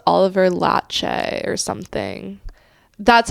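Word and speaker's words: Laxe: It's pronounced Oliver Latche or something. That's how the That's how the Q&A moderator was saying it. It's like Oliver Latte.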